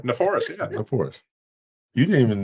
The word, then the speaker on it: Neforas: Just rhymes with 104. Four. Bam, bam. That's it, right? Neforas, yeah.